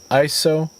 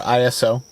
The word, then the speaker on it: ISO: So what are ISO or ISO, depending on how you say it?